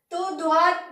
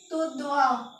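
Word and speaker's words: tout droit: इसको फ्रेंच में बोलते हैं तो ध्वा, तू ध्वा। क्या बोलते हैं? TOOUT को बोलते हैं हम तू, और DROIT को ध्वा, तू ध्वा।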